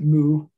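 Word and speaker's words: 無: uh nothingness or absence in japanese pronounce it mu as in the like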